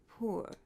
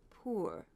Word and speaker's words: poor: And he also says poor, poor, poor, which is actually the correct pronunciation, but most Americans don't use it.